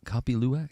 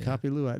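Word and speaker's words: kopi luwak: Co copy luak. Yeah, I said it right. Copy luac.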